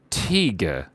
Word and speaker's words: Teague: It's pronounced Teague. Teague? Teague? Teague, is that right? Teague? Teague is like Teague Fleming?